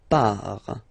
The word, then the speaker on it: pars: So the first form is je pars. So final S not pronounced.